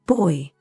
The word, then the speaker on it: buoy: Yeah, it's boy, it seems. Boy. Yeah, it is boy.